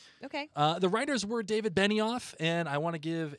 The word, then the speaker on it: Benioff: I was saying it as though it was David Benoff. And as you know, I am a stickler for pronunciation You are. and making sure getting names are right. You are. I've heard both pronunciations, so I was like, I'm just going to pick one. So I went Okay. with Benoff, but it's actually Benioff.